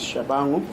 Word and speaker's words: Tshabangu: My name is for proper pronunciation, and the surname is Tshabangu.